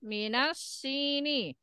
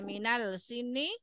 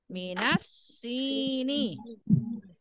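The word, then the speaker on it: مِنَ السِّنِّ: Ada yang membaca minal sini. Nah, jadi kalau di sini al di sini pada kata as sini ini adalah syamsiyah. Jadi tidak terbaca alnya. Minas sini.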